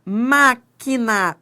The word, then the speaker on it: máquina: Máquina tem dígrafo que u. Ó, eu não pronuncio o U.